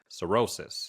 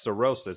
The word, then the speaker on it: cirrhosis: Cirrhosis.